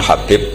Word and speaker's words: Habib: yang nulis Abi Abdurrahman Habib assulami itu di harakatnya kitab itu ada yang nulis hubb Yang benar Oh gigih yang benar itu bacanya habib habib itu asulami itu ikut